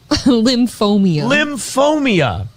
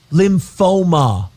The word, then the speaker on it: lymphoma: Lymphomia. Lymphoma. There's no I in there.